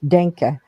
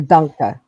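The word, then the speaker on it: Danke: you it's thank you but it's denka denka yeah or dka yeah it depends on what part of Germany you're in and how yeah my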